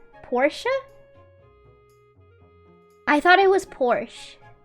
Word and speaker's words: Porsche: Porsche is also not pronounced Porsche. Porsche.